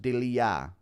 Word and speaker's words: Delija: Delija is pronounced Delija.